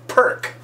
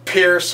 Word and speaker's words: Pirc: such an amateur and miss calling it perk it's Pierce or Pierce see even we amateurs